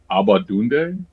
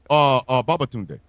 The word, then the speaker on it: Babatunde: Omar Abadunde. He was the dean in How High. Oh, Babatunde. Babatunde. I was close.